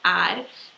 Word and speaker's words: er: exception again it uses it eats felt ER but it's pronounced ad you'd say yeah i